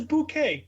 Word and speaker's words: Bucket: The name's Bouquet. It's spelled bucket.